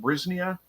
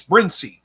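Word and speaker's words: Brinsea: I pronounced it Brisnia or Brincia. It's Brincy. That's what it is.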